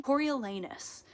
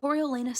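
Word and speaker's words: Coriolanus: to say it wrong cor lanus I'm pretty sure is how you say it cor lenus snow is our main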